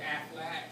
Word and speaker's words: Affleck: yourselves so well, including the young person who said Affleck. But my name is not spelled like the duck, it's spelled like my cousin, the actor, Ben Affleck.